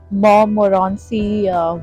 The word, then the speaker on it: Montmorency: धूप बहुत तेज पड़ रही है, but I am at Montmorency Waterfall. That's how you pronounce it. The T is silent. It's a French name.